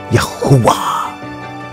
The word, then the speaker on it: Yahuwah: His name is pronounced Yahuwah or Yahuwah.